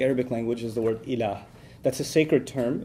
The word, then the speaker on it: ilah: this Arabic phrase, La ilaha illallah, in which there's the term ilah. If you want to write that in English, it would be I-L-A-A-H, ilah. It's pretty easy to pronounce in English, okay?